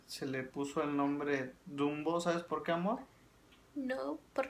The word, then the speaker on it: Dumbo: Y se pronuncia dumb, que en español significa tonto. Entonces los del barrio no quisieron que su barrio se llamara tonto. Entonces le agregaron la O para que se pronunciara Dumbo.